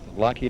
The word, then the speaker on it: Lockheed: that locked air um hold on how did he pronounce it your job uh I work with lock heat aircraft Corporation oh lock heat aircraft